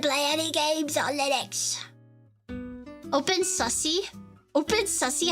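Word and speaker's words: openSUSE: Open Sussy? Open Sussy? How do you pronounce it, please? Tell me. Open Susie? Please. Susie. A Susie. Yeah. Open Susie.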